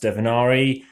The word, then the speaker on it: Divinare: Hi everyone, this is Divinare, not Divinare, it's pronounced Divinare, and is by Brett J.